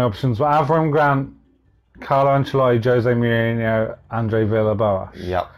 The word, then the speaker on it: Ancelotti: Oh, Ancelotti, yep. Ancelotti, is that how you say it?